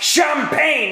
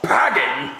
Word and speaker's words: champagne: We need to get your brain scan, YOU OLD WELL, YOU KNOW IT'S PRONOUNCED CHAMPAGNE AND NOT PAGING.